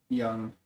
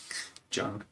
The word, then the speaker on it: Jung: He just does a really good job of synthesizing Freud, Jung, and Adler's way of looking at psychology to the point where like they all become a good conversation to each other.